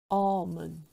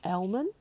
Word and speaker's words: almond: chocolate chip let's plan an excuse to Sentosa almond almond not Elmen but um reservoir reservoir not reservoir reservoir reservoir